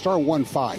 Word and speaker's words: star15: It's star15. Don't spell it out.